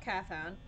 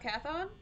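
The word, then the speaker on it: Cawthon: it's made by Scott cathon kothan how is this name pronounced carthon I'm gonna say carthon but if I'm wrong just the nose on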